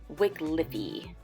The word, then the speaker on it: Wickliffe: Or is it Wycliffe? Wickliffe. Okay, so a lot of people can't agree on how it's pronounced, but I can say this is one of the biggest towns we have on here.